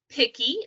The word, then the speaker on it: PIQI: Um, one of our most exciting uh outcomes at clinical architecture is the patient information quality improvement framework or picky as we pronounce it.